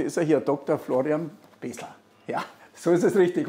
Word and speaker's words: Bresler: Florian Besler. Ja, so ist es richtig, oder? Vielen Dank, ja, richtig ausgesprochen.